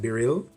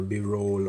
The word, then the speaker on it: BeReal: so as you can see down here it's pronounced be real um not be real or b-roll or be real so just keep that in